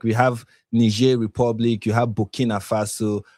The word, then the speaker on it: Niger: nij okay yes yeah it's French it's not it's not English so is nij republic